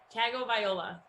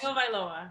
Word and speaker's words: Tagovailoa: Tagovailoa. Tagovailoa. You're very close. Tagovailoa, right?